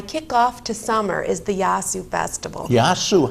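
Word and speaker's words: Yassou: We spell it Y-A-S-S-O-U. Y-A-S-S-O-U. Yasu.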